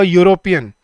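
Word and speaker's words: European: शी इज अ यूरोपियन। यूरोपियन, अ यूरोपियन क्यों बोलते हैं? क्योंकि यूरोप, यूरोप बोल के देखो एक बार, यूरोप, य की साउंड आती है।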